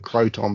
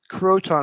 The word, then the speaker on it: Croton: Croton is also a place name in New York State, although we spell it with a C rather than a K. Okay, so more like Crouton.